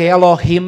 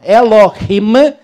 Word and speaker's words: Elohim: E a palavra hebraica Elohim é um plural. O sufixo him, pronuncia-se assim com som gutural, o sufixo him é um plural.